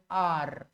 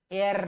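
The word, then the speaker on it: err: একটা ইংরেজি হচ্ছে আর উচ্চারণ হচ্ছে আর এর নয় ওকে এই আর থেকে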